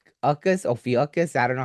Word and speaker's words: Ophiuchus: Let's see if they could pronounce it for me. Let me see. Well, it's Ophiuchus.